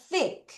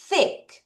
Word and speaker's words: thick: 자, 그 다음 문장은 th 발음을 해야 돼요. 자, 같이 따라하세요. thick. 다시 thick. 여러분 혀 넣었다 빼세요. 창피해도 thick. 다시 thick. 쌍시옷과 쌍디귿의 중간 발음입니다. 약간 쌍시옷에 더 가깝게 소리가 날 거예요.